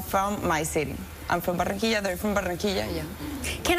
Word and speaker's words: Barranquilla: How do you say it? Barranquilla. Barranquilla. Well, hold on, you can roll it.